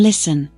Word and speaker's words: listen: talk listen not o right wrong hours guess silent letters first C in science l in Talk t in listen K in know g h in right W in wrong H in ours u in guess 3.